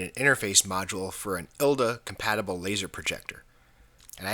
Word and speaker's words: ILDA: interest and I'm also told that it's pronounced ilda not laa dope this will be